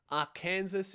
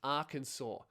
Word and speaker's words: Arkansas: Before I get into what happened, I just wanted to say our Kansas is pronounced Arkansas.